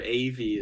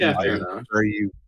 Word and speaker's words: Evie: So that's kind of I don't blame you for that, but she is like spelled like Eve, like EVE, and then you just add a Y, so it would be pronounced Evie.